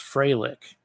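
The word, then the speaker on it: Frolich: So it was spelled F R O L I C H and it's pronounced Freighic.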